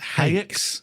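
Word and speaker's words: Haex: Now we go on to, how are you pronouncing this? H-A-E-X. Yeah, Hex. Hex.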